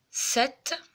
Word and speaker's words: sept: la prendra aussi bientôt sept alors il ya une être muette c'est le p7 qui en plein milieu d'ailleurs